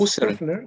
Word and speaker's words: Husserl: Y tú haces la presentación mencionando a Edmund, no sé pronunciarlo bien, me corrijas. Husserl, Edmund Husserl, ¿ya?